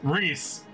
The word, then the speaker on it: Rhys: how to pronounce Rhys how do you pronounce Rhys Reese that's how I pronounce Rhys where'd you sound a